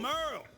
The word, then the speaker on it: Merle: I'm Merle, spelled like Hurl.